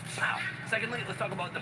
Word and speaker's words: pav: First of all, the pav, that's not how you say it. It's about a pound. Like, pow.